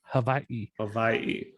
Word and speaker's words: Hawaii: is us to say hawaii right we don't even like it's like been mispronounced forever yep exactly it's it's like a v actually hawaii yeah um and i'm